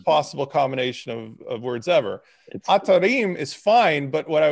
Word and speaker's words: Atarim: like the ellipses and like phonetically atta rheem like eem so i don't want